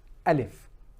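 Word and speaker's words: ا: now of of course the sound that is coming out from alif we understand that there is a similarity between alif and our English counterpart a the letter A inshallah let's continue because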